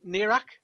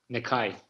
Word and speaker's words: Nekaj: I still can't pronounce it. Nirak? Nikai.